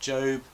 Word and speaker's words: Job: Today we're looking at the book of Job, or as I always assumed as a child, it must be pronounced Job because that's how it's spelt.